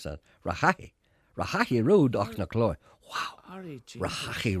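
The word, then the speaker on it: Rehaghy: How would you pronounce that? Rahahi Road, Ochnacloy.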